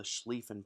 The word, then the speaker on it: Schlieffen: called the Schlieffen Plan that's a great word just say it out loud of make you feel good and it also kind of spray out if you're saying it right if you're not spraying out when you say it probably not saying it well so we have the